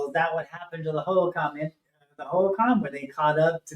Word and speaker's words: Hohokam: Well, that could be another way to look at, if you see this thing grabbing, is it pronounced Hohokam? Hohokam, yeah. Hohokam.